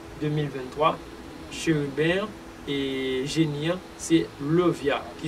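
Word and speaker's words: Leviah: jusqu'à 20 juin 2023, chérubin et génie, c'est Levia, qui s'écrit L-E-V-I-A-H.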